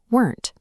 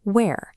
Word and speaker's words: were: For the plural negative, we use weren't. Pay close attention to the base word here. It is pronounced were. It is not pronounced where, like the location question.